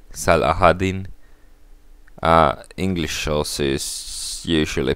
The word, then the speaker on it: Saladin: think i pronounced correctly salahaddin english sauce is usually pronounced it's saladin but i think in arabic you say it's not quite sure though so warfare and